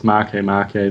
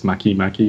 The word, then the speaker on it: Makemake: Anyway, I've seen that there are like 3 different pronunciations for it. There's Makemake, there's Makemake, and then Makemake.